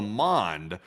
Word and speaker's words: Mons: Yeah, this would be the Angel of Mons. Actually, at the Battle of Mons. Well, Mon, which is spelled M-O-N-S.